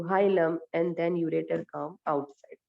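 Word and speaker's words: hilum: And यहाँ पे जो लास्ट में ये स्ट्रक्चर आएगा, that you call हीलियम. नहीं, स्पेलिंग रॉन्ग है, हाइलम.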